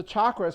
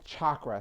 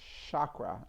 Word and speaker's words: chakra: all the pronunciation is chakra CH H ch a lot of people pronounce it chakra I did for many years until my friend G corrected me and said no it's chakra like chocolate I oh I like